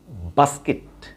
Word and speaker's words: basket: আসলে বাস্কেট is wrong. The right pronunciation of this word is basket. Basket. A is long and kit. Basket. Basket. Basket. Basket. Not basket.